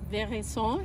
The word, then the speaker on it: veraison: That's what we call veraison here in Texas. I think they pronounce it veraison in French, but we're in Texas.